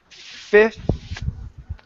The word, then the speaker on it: fifth: oh shoot sorry okay so it's fifth so we go bounce on that F into the th fifth fifth good one